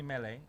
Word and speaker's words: Mele: Just look up my name, Mele, M-E-L-E, with an accent on the E.